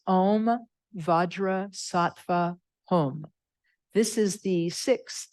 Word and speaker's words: Vajrasattva: it's pronounced differently in tibetan but it's om vadra satva home this is the sixth syllable name Mantra of the Buddha vajras SATA